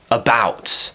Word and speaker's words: about: example when we have the word about about the stress is on the second syllable bout bout I'm saying it's strong my pitch is going up and it's becoming a little bit longer well what about that